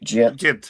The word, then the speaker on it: Gent: Gent. Yeah, Gent West Virginia.